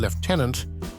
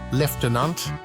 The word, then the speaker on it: lieutenant: and even social factors in the case of leftenant the ftic shift from EU to left reflects a broader pattern